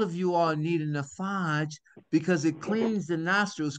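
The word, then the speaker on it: Navage: All of you all need a Nafage because it cleans the nostrils quite well.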